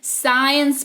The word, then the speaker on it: science: अगर सी के ठीक पहले एस आया हो तो सी हमेशा साइलेंट होता है, अर्थात सी का उच्चारण नहीं किया जाता है।